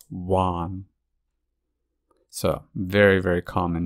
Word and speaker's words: Juan: notice that this time it's not the H sound um it's the W sound Juan it's not juong it's one so very very common